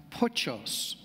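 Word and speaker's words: πτωχός: In the Greek, there's a word for poor pronounced pochos, and that is a verb meaning to shrink or to cower or cringe as beggars did in that day.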